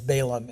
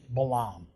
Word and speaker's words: Balaam: to the story of what you had known as Balaam it's really Balaam the correct pronunciation and this is the